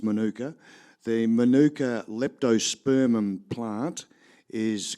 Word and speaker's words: Manuka: There's a suburb in Canberra called, we pronounce it Manuka. It's Manuka.